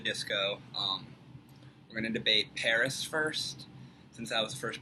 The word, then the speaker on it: PVRIS: I'm going to show him ah the band Paris or spelled pinterest but it's pronounced Paris and he's going to show me eddakath those